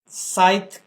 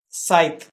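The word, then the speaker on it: scythe: काटते हैं उसे हम साइत कहते हैं इसमें याद रखिए इसके अरा प्रोनंसिएशन थोड़े ट्रिकी है इसके अंदर आपको सी को साइलेंट करना है साइत क्लिपर कुतर नहीं क्लिपर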